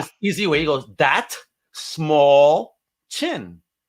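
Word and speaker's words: Dastmalchian: He goes, that small chin, and that's how you pronounce my name.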